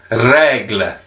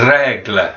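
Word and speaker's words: règle: ruler on francais is une Legler and regular so again we're rolling that our we've got the accents on the e just above the either regular so it gives the accent next classroom object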